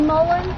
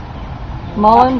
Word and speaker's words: Mullein: It's called the woolly mullein? No, this one is called mullein virgatum. M-U-L-L-I-U. How you spell that though?